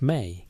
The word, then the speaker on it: me: The concept appears across Mesopotamian texts with a consistency of fundamental cosmology mi pronounced may in aadian Peru usually translated as divine decrees or divine powers though neither translation captures the full sense.